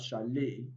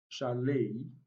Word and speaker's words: chalet: have sashay we have chalet and we have bouquet now the three final words are of french origin so beside the last letter t is not pronounced in the three words sashay charlay and bouquet it's also